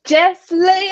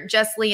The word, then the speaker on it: Jesslee: name like a pro thanks for saying it one word which is very important to me because there is one other jesslee in the world but she's two words so it's Jess